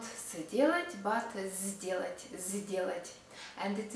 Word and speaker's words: сделать: Сделать. First unvoiced consonant S is followed by voiced consonant D, and maybe that's why we also pronounce it voiced. З. Not сделать, but сделать.